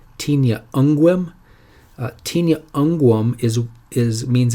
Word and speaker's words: Tinea unguum: Tinea unguum is the way it's pronounced. Did I say that? I think I might have messed that up.